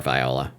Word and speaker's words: viola: I think you can pronounce it either way. Okay, great. Viola or viola.